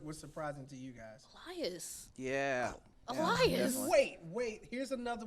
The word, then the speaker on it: Elias: If you're gonna say his name, you gotta say it right. Elias.